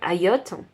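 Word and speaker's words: Hayyoth: suis vraiment désolé hein ça s'écrit H a yy o th alors je vais dire AOT si vous si vous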